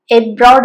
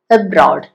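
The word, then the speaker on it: abroad: എബ്രോഡ്. എബ്രോഡ് അല്ല, എബ്രോഡ്. About, again, avoid. അവിടെ എല്ലാം കണ്ടോ, ആദ്യത്തെ ആ എന്ന് പറയുന്നിടത്ത് ഒട്ടും സ്ട്രെസ് ഇല്ലാതെ നമ്മൾ പറയുന്നത്.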